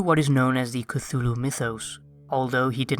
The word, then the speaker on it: Cthulhu: This word is supposed to be a completely non-human word and there's no correct way to pronounce it. However, Lovecraft wrote that the closest pronunciation is culu.